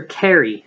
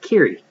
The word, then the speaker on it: Kiri: he had called her carry a few times before she told him it was not carry but kiri Justin wasn't great with